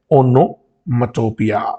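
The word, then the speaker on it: onomatopoeia: मैंने लिख रखा है, ओनोमटोपिया। इसकी प्रोनाउंसिएशन भी ठीक देख लेना आप, और स्पेलिंग भी देख लेना। इसको बोलते हैं ओनोमैटोपिया।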